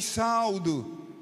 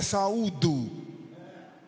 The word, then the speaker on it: saúdo: e irmãs, eu vou saldo." Como é que fica o auditório? "Eu vos saldo com a paz do Senhor. Se a pronúncia correta é saúdo, fica ruim, uma pessoa